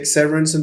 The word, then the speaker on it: Severinsen: I will pronounce your name the way that you pronounce it. But I usually say Stig Severinsen because then I'm the only one in the world with that name, so it's easy to Google.